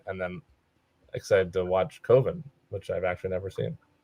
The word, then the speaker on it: Coven: pick up the 4K Coven. Not Coven. That rhymes with oven.